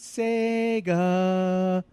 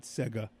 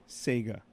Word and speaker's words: Sega: not my Sega Genesis even though it's spelled with an e it's pronounced Sega Sega right Sega not sigga sigga Sega anyway I'm at work